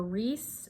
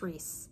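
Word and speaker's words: Rhys: I think it's Reese. Like R-E-E-S-E. Like Reese's Pieces.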